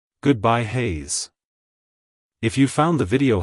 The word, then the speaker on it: Hayes: sound at the end keep the z sound short and crisp like hello Hayes goodbye Hayes if you found the